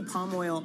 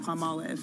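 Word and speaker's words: Palmolive: I say palm oil all the time instead of palm olives.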